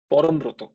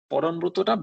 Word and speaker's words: পরমব্রত: যেমন ধরো আজকে যদি আমি বলি পরমব্রত, পরমব্রতটা বাংলায় আমরা পরমব্রত বলি, হিন্দিতে বললে কি বলবো? পরমব্রতা।